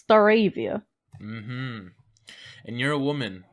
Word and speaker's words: Stareivia: could pronounce my name. Yes, it's Stareivia.